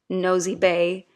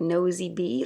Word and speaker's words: Nosy Be: Carlo and I know it's called nosy B even though it's spelled nosy be E I thought it was like nosy be like to be nosy or something but it's actually the name of an island and this is a